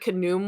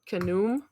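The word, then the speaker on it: Khnum: fair um I even though it says that canum was the one that made heckit out of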